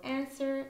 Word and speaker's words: answer: beginning of the word so answer and who we have the two words with a silent W uh there are many